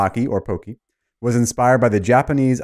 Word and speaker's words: Pocky: they provided is simple it's like rocky except with a p the name or poki was inspired by the